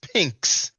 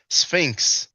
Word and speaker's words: Sphinx: Sphinx and the Sphinx bro Sanchez says pinks pinks he doesn't know it is pronounced Sphinx I mean just listen